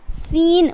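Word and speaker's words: scene: muscle उसी तरीके से सीन सीन में क्या है सीन मतलब ए का सी का उच्चारण यहां पे नहीं हो रहा डायरेक्ट सीन अब देखिए डी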